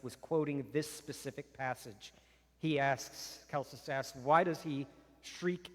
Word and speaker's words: Celsus: Indeed, when the pagan Celsus, Greek would have been Kelsos, but we've adopted the Italian pronunciation, for lack of a better term. Italians have had a heavy influence on the history of Western Christendom. So we'll say Celsus.